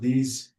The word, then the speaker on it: these: So, be careful about the pronunciation of these words. Why? Because here the S is not S. It is Z. These these and we have long E and those those we have long these those.